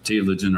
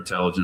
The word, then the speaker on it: telogen: You talked about those three phases uh anigen cavagen and is it tiloggen? Tilogen or telogen depending on what part of the world you're from.